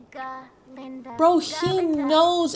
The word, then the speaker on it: Galinda: Linda. It is Galinda.